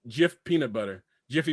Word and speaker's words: Jif: actually Jif, Jif, not Jiffy.